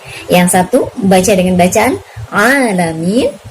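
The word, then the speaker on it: العالمين: Yang satu membaca dengan bacaan Alamin. Yang satu membaca dengan cara mengganti huruf Ain dengan Hamzah menjadi Alamin. Dan tentu saja ini adalah merupakan kesalahan yang fatal karena ini akan sanggup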